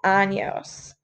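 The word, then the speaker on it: años: word four years is anos and as a reminder make sure that you have this little tilde on your end and anos otherwise it means something you do not want to say you have 14 of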